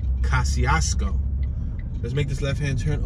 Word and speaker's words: Kosciusko: So Kosciusko, it's spelled with a ski, like a C, an S-C, but it's not pronounced Kosciusko, it's pronounced Kosciusko.